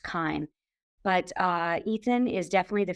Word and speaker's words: CHIME: It's actually spelt CHIME. It's pronounced Chyme.